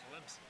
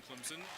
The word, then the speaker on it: Clemson: Atlanta Atlanta Atlanta and the nearby town of Clemson South Carolina with an invisible P Clemson and you can tell